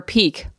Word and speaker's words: pique: when I realized that Peak your curiosity random add note you spell it p-i-q-u-e for Peak what I feel like